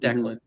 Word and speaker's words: Declan: It's pronounced Declan.